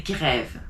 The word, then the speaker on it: grève: Because of the accent, you say grève.